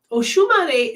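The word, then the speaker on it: Oxumarê: Okay, Oshumare is spelled Oxumare, Oshun, like the river goddess Oshun, Oshumare. Okay.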